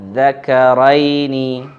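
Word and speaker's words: آلذَّكَرَيْنِ: Ya, contohnya adalah kata adzakaraini, Allahu khairun. Kata di sini ini adalah mad badal. Dia ada dua hamzah sebenarnya. Kemudian hamzah yang kedua diganti dengan alif sehingga dibacanya adalah panjang. Kemudian bertemu dengan tasydid.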